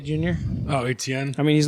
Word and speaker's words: Etienne: Njoku, Hillard, Dak Prescott, and the Chargers defense for Baker Mayfield and I don't even know how to pronounce the last name. Atene Jr.? Oh, Etienne.